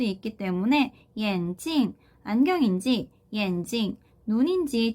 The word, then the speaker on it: 眼睛: 뒤에 사성으로 찡으로 발음되는 거에 좀 주의를 해주셔야 돼요. 왜 그러냐면 眼睛이라고 하는 뒤에 경성으로 발음이 되는 단어가 있어요.